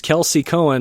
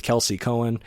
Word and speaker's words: Kelsey Coan: me posted thank you all right that was Kelsey Cohen apologies for the choppy uh of the interview